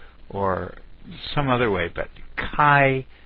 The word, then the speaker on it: chi: some other way but kai is the way it should be pronounced so I'm trying to